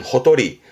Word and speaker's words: 畔: 요거를 혼자 두게 되면 발음은 호도리.